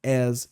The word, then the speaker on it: as: Por exemplo, Flamengo is as big as Corinthians. Ou seja, o Flamengo é tão grande quanto o Corinthians. Deu pra pegar? Lembrando que a pronúncia é as. Faz um som de Zzinho no final.